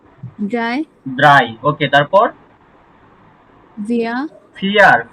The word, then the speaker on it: vier: তো আমরা কি বলছি যে ফাও জি, তখন শব্দের সাথে ইয়া হবে, এটা ফয়ের মতো উচ্চারণ হবে, ফাও।